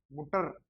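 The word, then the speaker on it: Mutter: है ट, मू ट, और ई आर अर, मुटर, इस तरीके से मुटर होता है।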